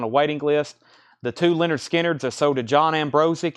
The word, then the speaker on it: Lynyrd Skynyrd: Masters 2lp 45 RPM Leonard Skynyrd pronounced Lynyrd Skynyrd this will blow your